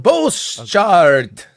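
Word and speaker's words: Bosschaart: They've appointed Pascal Boschart. I don't know how to say that properly. It's 2 A's together. How do you say 2 A's together, Robert? Boschart. Okay. Just like that.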